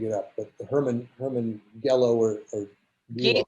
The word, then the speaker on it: Gello: But the Herman Gello or Gello. I think it's pronounced Gilo. That's how I remember it from my childhood.